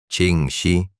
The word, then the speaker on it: Ching Shih: Ching Shih, pronunciado Ching Shi, conocía cada traicionera corriente